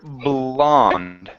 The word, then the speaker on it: blonde: So, you want to focus on the bl at the very beginning of that word. So, instead of saying blond and letting the your tongue hit the top of your mouth. Okay. You're going to lightly press.